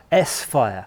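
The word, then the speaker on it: S-Phyre: S-Fire. Yes. Oh, so you don't put it together. It's definite split. It's S-Fire.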